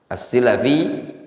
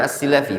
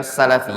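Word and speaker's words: السِّلَفي: As-Silafi bi kasri sin, nisbah ila salafah. As-Silafi itu bacanya As-Silafi, bukan Salafi ya, tapi As-Silafi.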